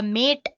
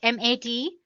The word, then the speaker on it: MATE: As you can see, the machine boots you into the Mate desktop environment. Let me pronounce it M-A-T-E. You can call it whatever you want, Mate or Mate desktop environment.